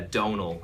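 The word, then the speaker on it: Domhnall: uh but it's a Donal is how I pronounce my name uh which is like tonal but with a d instead of a t and the m is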